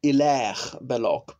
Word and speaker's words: Hilaire Belloc: surely I pronounce name Hilaire Belloc because he's French of course it's a silent H H is never pronounced in French as often tell my